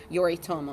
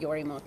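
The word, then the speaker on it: Yoritomo: name right you guys it's Yuri Tomo not your emote though sorry ok so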